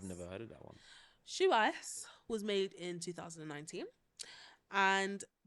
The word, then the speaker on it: Xiaoice: It's spelled XIAOICE, but it's pronounced Shuice. I've never heard of that one. Shuice was made in 2019, and she learned EQ skills before IQ skills.